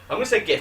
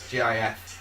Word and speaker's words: GIF: Because if you take the GIF of Batty Boy Chat, yeah, it probably is. If you take gift and just drop the T, it's GIF, isn't it?